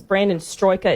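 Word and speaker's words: Brandon Straka: Brandon Stroika, is that how you pronounce his name?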